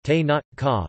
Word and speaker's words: Tenochca: that included the Tlatelolco, Tenochca, Nahuatl pronunciation, Te-Not-Ca, referring only to the